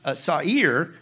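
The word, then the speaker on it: שָׂעִיר: Now, what's wild in the Hebrew, that word there in the Hebrew, okay, is satire, pronounced sa'ir, okay, and you know what it means?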